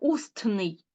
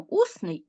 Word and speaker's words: усний: то звук т випадає Ми ж не кажемо устний Ми кажемо усний і пишемо усний проїзд корінь ЗД а